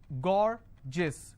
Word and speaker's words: gorgeous: So gorgeous, 2 syllable, I will stress on gore.